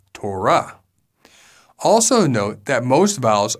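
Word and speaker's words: תורה: For example, when we say this Hebrew word, many often say Torah. However, in Hebrew, the closed syllable comes at the end, so it is actually pronounced Torah.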